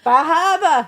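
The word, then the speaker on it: Bar Harbor: I'm a research scientist and the only research we have up in Maine is in Bahaba. Bahaba. Yes. Yes, we do pronounce it like that.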